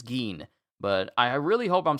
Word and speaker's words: Ging: I said Jing, and I said Ging, but it's Geen.